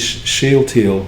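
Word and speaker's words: Shealtiel: jehoiakim in exile and his name is sheil thiel which is spelled s-h-e-a-l-t-i-e-l and you can look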